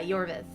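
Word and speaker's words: Iorveth: thank you castel uh yorvith the pronunciations get to me but yeah yorvith that's how you pronounce it i did like him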